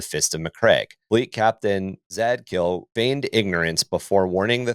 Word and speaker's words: Zadkiel: Zandikul then opened a secure... I don't know if I'm pronouncing his name right. Zadkiel.